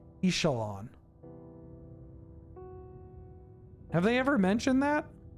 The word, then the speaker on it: Ixalan: of the X but we do pronounce the X for the name of the set right that's kind of weird to me why is it Exelon why do we pronounce it Exelon not isalon have they ever mentioned